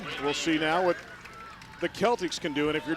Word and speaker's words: Celtics: anything about Dublin Jerome, even though it looks like Boston Celtics, they pronounce it Celtics, which if you go back to the dictionary in the old version of how it's supposed to be pronounced, indeed, that C is a hard K sound and is pronounced Celtics.